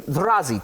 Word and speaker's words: Zrazy: Of people may have never heard of, much less even probably even eaten a Ukrainian Razzi did I even get that pronounce right?